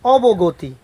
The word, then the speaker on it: অবগতি: এই যে গতি, এই যে গম মধ্যে অ আছে ত রসইকার, এই জন্য অবগতি, বানান হচ্ছে গ, আর উচ্চারণের মধ্যে বলছি আমরা কি গতি, অবগতি।